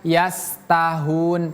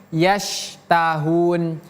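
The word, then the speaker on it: يَشْتَهُونَ: Ini huruf syin. Jadi bukan sin. Jangan kita baca yastahun tapi yasahun.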